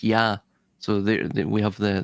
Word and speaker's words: Ea: It's also pronounced Yah by the way in Aadian. The EA is pronounced Yah.